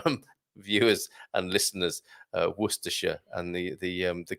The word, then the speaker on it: Worcestershire: worcestershire source of course it's hard not it's hard to say that wrong war sister shire possibly is how some people might go about it okay thanks a lot